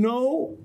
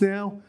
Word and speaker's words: no: This is not true. It is pronounced as O, O. So don't say go, say go. Don't say home, say home. Don't say no, say no. In your pronunciation, you make two movements by your tongue.